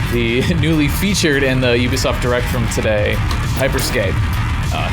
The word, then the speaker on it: Ubisoft: I used to call them Ubisoft, but they all pronounce it Ubisoft, so I don't know.